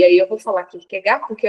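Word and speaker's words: Kierkegaard: deparo com o pensamento do Kirk ou o Kirk gar E aí eu vou falar Kirk gar porque é o meu professor de filosofia do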